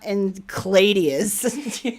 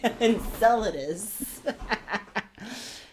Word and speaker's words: Enceladus: and say lus Enceladus oh not en cladius Enceladus Enceladus Enceladus okay so anyways